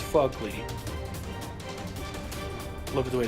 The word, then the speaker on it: Phogly: fugly dudes it's not it's fugly look at the way it's spelled they don't get it maybe if you